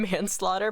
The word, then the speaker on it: Manslaughter: Can we name him Manslaughter? Pronounced like man's laughter.